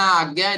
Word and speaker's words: आज्ञा: ये थर्ड आई को आज्ञा चक्र भी बोलते हैं क्या बोलते अजना आज्ञा दोनों आप बोल सकते हो वो डिफरेंट प्रोनाउंसिएशन है उसमें कंफ्यूज नहीं होना है।